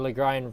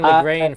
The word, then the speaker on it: Legrand: Also, that does really help me, because I always forget the Legrand rhymes with pine, and having that wine actually is very helpful. Right? Yeah, exactly. I was saying Legrand for years, like a pleb.